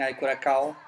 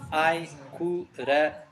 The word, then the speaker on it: Ai Coração: People, it has a cedilla. It's called a cedilla for a reason. It's pronounced like an S. And the tilde is a small N. It's nasal. So, coração. And for anyone still wondering how you pronounce the name of our song, it's Ai Coração.